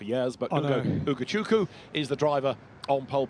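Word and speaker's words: Ugochukwu: is on poll position we were educated overnight that is a silent W so it takes a bit of getting used to having put the W in for years but uku is the driver on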